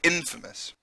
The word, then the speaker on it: infamous: known for bad reasons any stress the first syllable of each word so even though its famous you say infamous infamous because it's the first in it's the first part of the word so you always